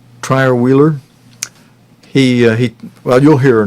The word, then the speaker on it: Trierweiler: How do you pronounce her name? Trierweiler.